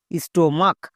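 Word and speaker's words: stomach: Next S টি ও স্টো এম এ সি এইচ মাক স্টোমাক। সি এইচ এর জন্য কো উচ্চারণ হয়েছে। অনেকে একে ভুল করে চো উচ্চারণ করে দেই।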